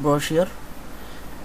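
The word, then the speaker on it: brochure: আচ্ছা যাই হোক, আজকের টপিকটা হচ্ছে ব্রোশিওর ডিজাইন, ঠিক আছে, বানান যেটাই হোক, উচ্চারণ ব্রোশিওর।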